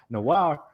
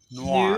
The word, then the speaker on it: noir: What's the opposite of old? New. And what does the pirate say? R. Noir. New R. It's not noir. It's Like noir. Noir. I give up. One syllable. Noir.